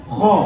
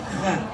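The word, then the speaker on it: خ: Harus kho, ya, tidak kha, tapi kho. Kho, so, do, to, lo, ho, o.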